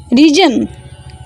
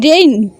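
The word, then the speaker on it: reign: And number 4, R-E-I-G-N, region. Here G is totally silent. R-E-I-G-N, region. Region is totally wrong. Here spelling is R-E-I-G-N, rain.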